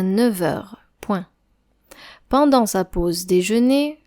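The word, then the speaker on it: neuf heures: 9h 9 et heure on prononce 9h 9h comme s'il y avait un V à la place du f 9h pendant sa pause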